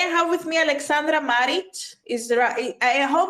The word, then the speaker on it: Maric: today I have with me Alexandra marich is there a I hope I pronounce your surname correct yes it's perfect yes